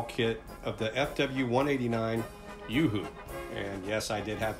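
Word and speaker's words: Uhu: scale great wall kit of the fw 189 yoohoo and yes i did have to look up how to pronounce that it loosely translates to eagle out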